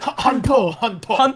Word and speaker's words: Hanteo: How am I supposed to say it, Warren? Hanto. Hanto. I've been saying it wrong.